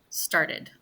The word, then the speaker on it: started: So the e is very short, a very very short um, time amount of time where the e is even pronounced. So it's started, started. It's almost like the T and the E unite together and blend in to make this almost make like a D sound.